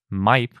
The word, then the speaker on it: Maip: This new megaraptorid is named Maip, I think is how you pronounce it. It's spelled M-A-I-P. That's basically how you pronounce it in Spanish and English, so that's what I'm going to go with.